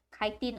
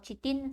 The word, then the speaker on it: chitin: Okay, whether you say chitin or chitin sama saja, yang penting ejaan kamu adalah betul.